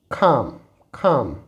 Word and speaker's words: calm: यहाँ पर L silent होने की वजह से it will be half. It is talk. Here it इज़ खाम।